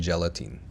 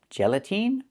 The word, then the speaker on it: gelatin: Soft sweet treats made from sugar, air, and gelatine. They're absolute deliciousness. Gelatine. The word is not pronounced gelatine. It's pronounced gelatin. The last syllable. The last vowel is not the long e like green beans.